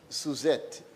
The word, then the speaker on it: Suzette: of Social Security, Miss Suzette, and you have to say it with the accent on the Z.